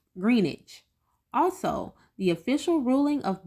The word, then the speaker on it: Greenwich: I mispronounced the name of Greenwich it's actually pronounced Greenwich also the official ruling of blessing olusegun's death